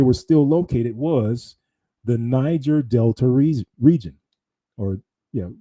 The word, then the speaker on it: Niger: ri of the river nijer It's called Uh it was pronounced back in the day. It's pronounced niger today.